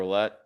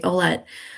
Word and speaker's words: Oulette: you said it right, Oulette.